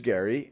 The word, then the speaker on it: Gerry: And that goes all the way back to 1812, when the then governor of Massachusetts, Elbridge Gerry, Gerry was how you pronounced his name, although now it's gerrymandering, he decided to sign the bill that would reapportion the state Senate districts.